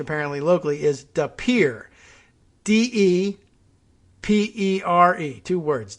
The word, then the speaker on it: De Pere: guess of uh well the connect the correct pronunciation apparently locally is de pere d-e-p-e-r-e two words d-e-p-e-r-e and i thought that might be de pere